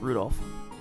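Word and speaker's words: Rudolf: That mess of characters is pronounced Rudolph.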